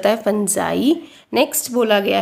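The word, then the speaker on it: fungi: 20 organise are called I pronounce करते हैं इसको ठीक है फुंजय नेक्स्ट बोला गया है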